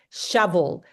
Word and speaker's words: shovel: Shovel. So can you, it actually pronounce it with an A instead of an O.